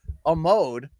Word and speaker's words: Hartford: My name is with the BDE, fresh and direct from the basement of my suburban Hartford Amode, which rhymes with commode.